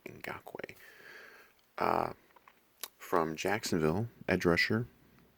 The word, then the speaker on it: Ngakoue: I had to learn how to say the name Ngakoue.